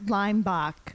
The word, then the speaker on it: Leimbach: do you say it Leach yeah Leach oh it's lime lime lime boach just ignore how it's spelled I I told teachers this imagine lime the fruit and Bo the chicken lime and then you